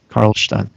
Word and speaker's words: Karlstadt: Voy a pronunciar eso en alemán, Karlstadt, porque no sé cómo se dice eso en español.